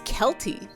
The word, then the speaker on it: Celty: It's pronounced like, oh, it's Kelty.